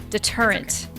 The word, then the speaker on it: deterrent: Deterrent, by the way. I thought I was saying it right. Deterrent. Deterrent. I knew it was deterrent and I was like, no, I think it's one of those words that sounds weird.